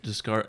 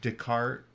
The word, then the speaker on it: Descartes: say his last name i thought it was discard yeah it could be french wait it's oh you actually have it written here yeah did dis uh descartes and descartes yeah i